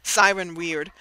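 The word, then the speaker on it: Pseron Wyrd: Siren Weird, whose name I'm spelling is spelled P-S-E-R-O-N, second part W-Y-R-D, Siren Weird.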